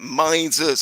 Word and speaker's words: Mises: That's how you pronounce it. Mises.